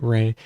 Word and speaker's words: REI: request or Ray okay ray you want Ray it's spelled REI Ray um um watch Ray